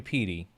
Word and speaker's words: Petey: So like in American gringo English, PY is how you pronounce my name. Like Pete or Peter, but PT since there's a P and a T in it.